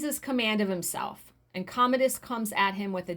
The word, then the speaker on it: Commodus: fighting against commodus i know i said his name wrong yesterday i said commodus why the fact did i say that is commodus commodus who he has just temporarily disarmed sword